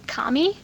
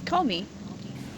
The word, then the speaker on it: Komi: They keep calling it her Kami instead of Komi. Oh, it's Comey.